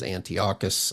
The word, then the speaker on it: Antiochus: uh but his correct pronunci pronunciation or pronunciation of his name is Antiocus Epiphies.